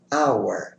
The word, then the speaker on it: hour: Vejamos um exemplo onde o H não é pronunciado. Hour, a palavra hour, que significa hora.